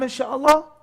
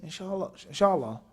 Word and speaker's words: in sha Allah: person says now I'm insha'Allah different story and also how you say it say in sha Allah or you say hello Charla I understand it's a